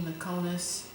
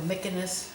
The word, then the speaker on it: Mykonos: the Greek islands, Santorini, Mykonos, or Mykonos, I guess is the proper way to say it.